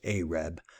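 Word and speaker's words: עֶרֶב: And first of all, let me just correct myself because I was saying ereb, but it's actually pronounced areb, apparently, according to the various pronunciations I'm finding in these various places. So it's areb, not ereb.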